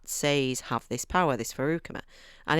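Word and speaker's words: Feruchemy: He has this ability, which is called, if I remember rightly, Farukami, if that's how you say it, Farukami. It's like Faru chemistry. It's like chemistry, Faru chemistry.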